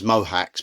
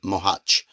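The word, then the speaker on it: Mohács: I know in English people pronounce it as Mohacs, but I can tell you I've got an extremely good Hungarian contact, and the Hungarians pronounce it Mohacs.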